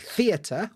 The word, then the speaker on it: theatre: Well, at the end of words, you guys have R-E, like theatre or centre. We're not having that. We're having ER, and we're going to pronounce that R every single time.